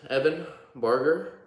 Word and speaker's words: Evan Barger: So, my name is Evan Barger.